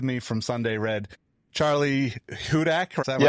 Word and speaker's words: Hudak: I have with me from Sunday Red, Charley Hudak. Is that right?